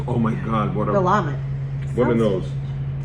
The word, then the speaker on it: Willamette: possible places, is from Willamette Valley, Oregon. I thought it was pronounced Willamette. It's Willamette. Google it. Willamette. Willamette. I've been putting the wrong emphasis on the wrong syllable all this time.